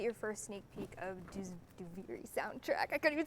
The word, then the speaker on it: Duviri: Duviri out loud is that's how you pronounce it, by the way. Duviri.